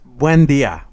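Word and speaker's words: Buen Día: Buen Dia. You exaggerated the buen a little bit, but you'll get it. You'll get it. For us non-Spanish speaking people, sometimes we like to exaggerate like our roles, our R's, and like Simon.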